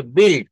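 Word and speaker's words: built: আর ভিথ্র অংশ কিন্তু একই উচ্চারণ বি ইউ আইলটি এটার উচ্চারণ হবে বিল। কি উচ্চারণ হবে বলেন? বিল। একটু মনে রাখবেন বিল।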